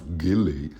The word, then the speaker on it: Gilly: or Jilly you know I heard it pronounced both ways Jilly and Gilly and I somehow fancy Jilly and I don't know why and you're probably laughing you're so clueless of everybody knows it's Gilly and Gilly and baby on board